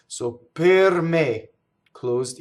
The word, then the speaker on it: per: Per does not rhyme with the fruit pear or pear or socks. It's per me.